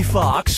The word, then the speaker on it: Foxx: in Django Unchained Jamie Foxx Jamie Foxx Jamie Foxx or Jamie Foxx Slayers 1 & 2 Jamie Foxx's last name has two x's in it the first X is silent step right up